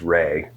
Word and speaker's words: Rhea: And then my mother's name was, her middle name was Ray. Okay. How'd she spell it? She spelled RHEA, okay. Like old school Ray.